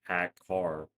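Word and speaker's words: ハッカー: It usually implies a wannabe hack pronounced like hack car in Japanese, and Hacka sounds stupid for Japanese people.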